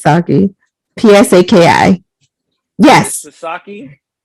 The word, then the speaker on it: Psaki: I think it's Psaki. Psaki. Yes. Psaki? No, the P is silent. Oh, Psaki.